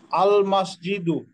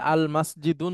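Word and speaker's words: المسجدُ: মাসজিদুন very good মাসজিদুন আর এই শব্দটা উচ্চারণ করেন আল মাসজিদু ভেরি গুড এটাকে যদি আল মাসজিদুন বলতাম তাহলে কি ঠিক হতো না হুজুর ঠিক হতো না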